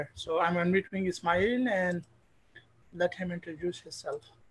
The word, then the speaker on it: Ismail: It's Ismail. Ismail, like smile. Yeah, like smile.